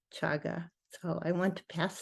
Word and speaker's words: chaga: Gregory who said that chaga caga is pronounced chaga so I want to